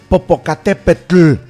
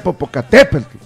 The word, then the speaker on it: Popocatépetl: Pero se pronuncia Popocatépetl. Es grave. Popocatépetl.